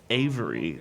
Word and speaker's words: Avery: This one deals with the treasure of Henry Avery, that's spelled like Every.